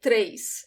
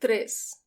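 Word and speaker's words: três: different pronunciations in brazil i say tres as if there is an i after the e but in some places in brazil people will pronounce it tris very clear without that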